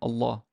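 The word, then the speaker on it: الله: If Allah is word initial, if you're going to start with it, it's like, Allah, Allahu, Allahu Akbar, Allahu Akbar. But if I'm going to say Bismillahi, la, it got soft.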